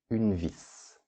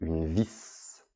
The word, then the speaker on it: vis: Alors vis, c'est féminin, une vis. Ici, au niveau de la prononciation, vous voyez que l'on prononce le S. Un tournevis et une vis.